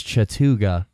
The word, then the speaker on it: Chattooga: be taking place in Chattooga County Georgia I think that's how you pronounce it Chattooga Chattanooga no that's not Chattanooga there that is gonna come up later but I believe it's Chattooga and this would be